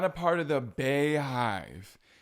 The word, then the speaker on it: Bey: b b e y I understand you might think it looks like Bae but it's not it's B look it up